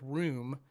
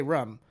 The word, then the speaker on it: room: around me ever said the word room um and apparently that's the correct way to say it it sounds so proper to me and everybody that lived in Massachusetts because we say rum and like I would